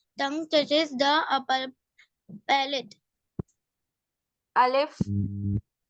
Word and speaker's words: الف: الف. Alif is pronounced from the emptiness of your mouth.